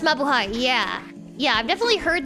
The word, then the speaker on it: mabuhay: It's pronounced mabuhay.